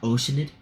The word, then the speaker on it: Oceanid: we should be able to find some related information Oceanid. there. It's not Oceanid, it's Oceanid. So we've been pronouncing that wrong for 4 years now.